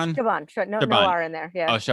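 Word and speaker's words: Chabon: No, I got Coulson Whitehead and Michael Shabbron. How do you say it? Shabbron. Shabban.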